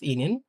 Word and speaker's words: Ihnen: "Wie geht es Ihnen?" আপনি কেমন আছেন? "Wie geht es Ihnen?" এই দেখেন আমি চেষ্টা করছিলাম আসলে উচ্চারণটা লেখার।